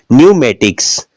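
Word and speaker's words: pneumatics: हैं साइकोलॉजी यह देखिएगा न्यूमेटिक्स अन से पहले पी है तो साइलेंट है तो हम समझ सकते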